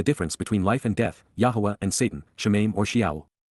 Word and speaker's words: Yahweh: who are upright and correct and therefore acquitted Yahweh Yahweh the proper pronunciation of the name of eloah God as